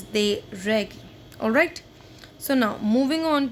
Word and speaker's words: règles: Students, one more thing, we do not pronounce s of the plural, so it is not des règles, no, it is des règles.